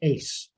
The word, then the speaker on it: AASE: academy for strategic education aase pronounced ace so jackie's going to